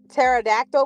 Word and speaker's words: pterodactyl: when I say pterodactyl how do you pronounce that because I know that's not pterodactyl because the tea is in front of the Pea and Olive Garden is